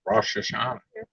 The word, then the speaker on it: Rosh Hashanah: It was something like it was right Reuters too, but I've always heard it pronounced Rosh Hashanah.